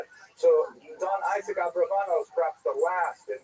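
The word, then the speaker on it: Abravanel: Uh much of this material is drawn from a very famous biography of Don Isaac Abraano. I should mention by the way many people pronounce this name Aarbanel and that's because of the it's much easier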